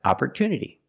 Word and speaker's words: opportunity: nature and natural but if the stress is after the T we pronounce it differently we pronounce it with a clear T sound like opportunity so let's start with